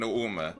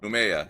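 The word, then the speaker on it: Nouméa: So we have, what, Papit, Nandi, and Nuume. Or, no, how do you say it? Numea, yeah, that's how you say it.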